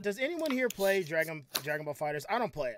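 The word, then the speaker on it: Dragon Ball FighterZ: ball fighters and I didn't know this it's pronounced dragon ball fighters is not dragon ball fighters II because the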